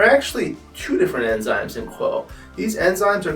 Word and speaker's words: Qwo: The product is named Quo because it will change the status quo of your cellulite. It's spelled QWO because the WO stands for women.